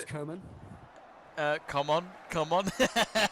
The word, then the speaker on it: Coman: I'm like, But no, it it's is Coman. pronounced- It is pronounced like that in French. It's Kingsley Coman.